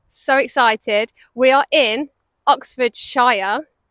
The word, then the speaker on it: Oxfordshire: excited we are in Oxfordshire so I say it like Shire because we are here with